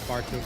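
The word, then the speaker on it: Bartuc: And yes, I'm well aware that his name is Bartuk, but I'll always call him Baruki.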